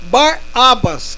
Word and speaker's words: Barrabás: Este homem que eu falei, Barrabás, que era aramaico, se pronuncia Barabas, que significa filho do pai.